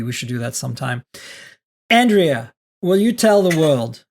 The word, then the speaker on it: Andrea: you do okay Andrea is my name pronounced Andrea but I do love when Miriam pronounces it